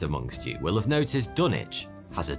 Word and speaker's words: Dunwich: of trade like dunwich as for why the w is now silent well that's just because